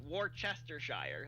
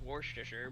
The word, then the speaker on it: Worcestershire: look at the word, you do think it's pronounced Worcestershire.